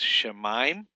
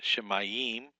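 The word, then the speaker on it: shamayim: You got this shemaim, not shemayim. It's not three syllables, it's two syllables. Sha, mime.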